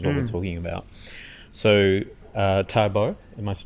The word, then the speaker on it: Taobao: So Taobao, am I pronouncing it right? Yeah. Taobao is like a website that it's a bit